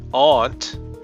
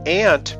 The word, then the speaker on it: aunt: Ant is another one that's pronounced differently depending on where you're from. If you say it aunt, you're probably from Britain or one of just a couple parts of the US, notably the Boston area. In fact, the ant pronunciation is the older one, but it shifted to aunt in England after the colonies were settled.